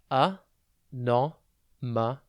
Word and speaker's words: anomaly: TV today's word is anomaly it's pronounced a Norma and it's spelled a n o m a